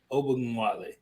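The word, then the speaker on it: Ogunbowale: Ogunwale.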